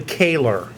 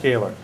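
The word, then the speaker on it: Koehler: Probably Kaylor. I'll bet it might be pronounced Kaylor.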